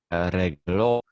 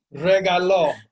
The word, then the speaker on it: regaló: Yeah, if you just put an accent on the regalo, then it becomes he gave or she gave.